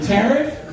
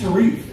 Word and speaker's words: Tariq: Tariff to me sounds like the teacher mispronouncing a black kid's name. He's like, "Tariff?" Some black. Oh, My name's Tariq.